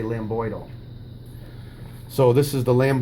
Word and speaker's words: lambdoid: you should be saying lambdoid ille but D is silent you just say Lam boydle so this is the lamb boy suture or